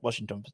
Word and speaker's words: Washington: Washington from Santos David Washington Washington that's how to pronounce it David Washington Chelsea had